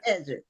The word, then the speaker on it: Edrick: So, uh welcome to the show Edric, right? Yeah, Edric. Okay, Cedric. I have to think of Cedric and then that'll put me on the path to the correct pronunciation.